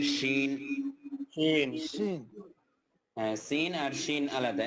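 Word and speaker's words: سين: Scene. হ্যাঁ, scene আর শিন আলাদা। একটা হচ্ছে সিন এস এর মতো, আর একটা হচ্ছে শিন। SH। এর পাশে এইচ দিলে যেরকম হবে, উচ্চারণটা সেরকম। জি।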